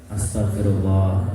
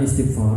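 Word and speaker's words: أستغفر الله: bagaimana caranya istigfar I istigfar bacanya Astagfirullah jangan istigfar istigfar ya dengan Astagfirullahalazim maka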